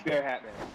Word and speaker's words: Bear Hatman: I've received word that Pabst Bear Hatman is pronounced exactly how it looks. Exactly. So it is Bear Hatman.